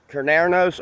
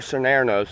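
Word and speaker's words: Cernunnos: with was hakate and carnernos or scenarios it depends on how you want to pronounce it but he's a celtic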